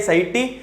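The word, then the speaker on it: satiety: When, हाँ, point of सैटी बोलते generally, इसका प्रोनाउंसिएशन ऐसा ही है, सैटी means total utility is rising and marginal utility is falling.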